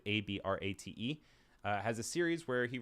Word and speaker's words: Abrate: That is spelled Emanuele, and the last name is Abrate, which is Abrate.